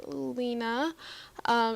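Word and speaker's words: Lina: Her name is Lena, spelled L-I-N-A, and the reason I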